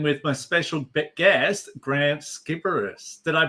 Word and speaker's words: Sciberras: I'm your host, Will Wheeler, and today I'm joined with my special guest, Grant Skipperus. Did I pronounce it?